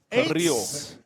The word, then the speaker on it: Carrillo: Try to roll your R's. Carrillo.